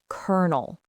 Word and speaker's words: colonel: First and most important, the pronunciation is kernel. two syllables with the stress on the first. Second, remember the ghosts and phantoms. The O and the L in the spelling are silent ghosts.